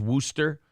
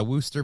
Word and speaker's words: Worcester: Wooster and gler and Le and Lester are pronounced Lester Worster and Gloucester yeah the W Worchester warer oh in Massachusetts is Worster yeah Worster Massachusetts I'm from there well you're from there